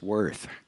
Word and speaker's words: Wirth: He said, if you call by name, it's Wirth. If you call by value, it's Worth.